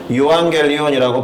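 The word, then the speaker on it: εὐαγγέλιον: 원어로는 유앙겔리온이라고 발음되는 단어이고, 주로 황제와 관련된 좋은 소식을 전할 때 이 단어를 썼던 것으로 보입니다.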